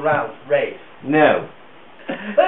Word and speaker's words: Ralph: Except for Ray Vaughan Williams, which is how he pronounced it, and therefore I suppose one ought to follow.